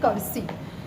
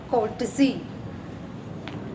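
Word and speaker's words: courtesy: Prayer में जब प्लेश बोलते हैं तब एक वर्ड आता है, इसको प्रोनाउंस करते हैं कर्सी, जबकि इसका सही प्रोनाउंस है कोर्टसी।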